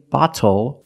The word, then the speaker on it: bottle: That's why we do not say little, we say little. And we do not say bottle, we say bottle.